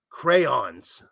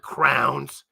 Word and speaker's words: crayons: Here's crayons. Crayons, not crowns.